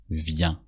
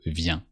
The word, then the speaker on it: viens: So, actually you can say it just viens. With a silent S at the end because usually in French when the last letter is a consonant, this consonant is silent. So, viens.